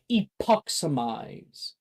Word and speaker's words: epoximize: Now, the spell is pronounced epoximize. Say it with me.